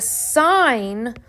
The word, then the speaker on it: sine: notation so um the sine of my angle is written s i n but still pronounced sine the cosine is written